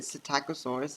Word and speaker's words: Psittacosaurus: Um, I think this the is it Psittacosaurus? Is that how you say it? Because it's silent P.